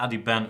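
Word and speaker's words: Adhiban: we've been doing that I've changed it to Addy Ben earlier for my little joke about the Ben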